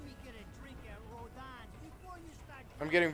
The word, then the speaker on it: Rodin: At least let me get a drink at Rodon's before you start...